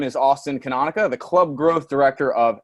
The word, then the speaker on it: Canonica: a weird last name canonica the way i like to get you to memorize it or remember it is it it rhymes with harmonica so those of the